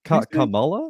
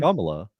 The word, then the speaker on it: Kamala: is it pronounced Kamala or I thought it was Kamala, pronounced man. Kamala? Kamala. Okay.